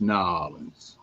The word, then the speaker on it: New Orleans: It's pronounced New Orleans.